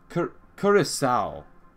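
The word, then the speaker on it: Curaçao: It's not Caraco, which is wrong. It's someone said Curacao. Curacao.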